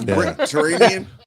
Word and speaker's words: Brickterranean: I said it wrong there. So it's Brickterranean. Yep. like Mediterranean.